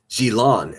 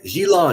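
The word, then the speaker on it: Ghislaine: things really start to pick up once Galain moves to New York City. Um, and it's uh Gilon. Xilon is how you pronounce her name.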